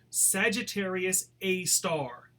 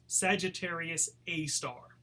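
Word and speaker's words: Sagittarius A*: call this black hole Sagittarius a star that asterisk is pronounced star Sagittarius a star it's in the constellation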